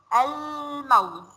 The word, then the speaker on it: الموز: حرف الميم، تعالوا كده نقرأ كلمة بحرف الميم لما نقول الموز. ينفع أقول أم موز وما انطقش اللام؟ لا ما ينفعش.